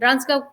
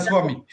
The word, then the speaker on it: Rangaswamy: Trabajó de la mano de diferentes expertos como el profesor Gary Lilien, Arvind Ranskau, ese sí, Dani, lo vamos a tener que pronunciar. Rangaswamy.